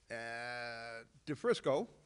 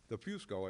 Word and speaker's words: DeFusco: DeFrisco, DeFusco, I believe is proper pronunciation, wants to bring back runoffs in Hoboken.